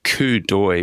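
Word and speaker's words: coup d'œil: they call it the coupi which is a really it's a French term um the spelling is absolutely bizarre compared to the pronunciation you'll see it in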